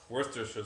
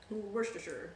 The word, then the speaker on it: Worcestershire: Worcestershire sauce. But it's more fun to like kind of say it in a stupid way. Worcestershire. Worcestershire.